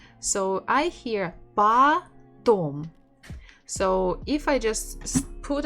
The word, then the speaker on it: потом: So, and I know that O that is not stressed is it sounds like A. That's why I can guess that the stress is on the second syllable.